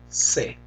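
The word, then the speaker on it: sé: but in Spanish that would be Joe no say so that last word right there s e say the pronunciation is said that word means no se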